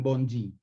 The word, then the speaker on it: bonde: ni ban ki-moon y no escriben bonde pero pronuncian bongi y de ahí viene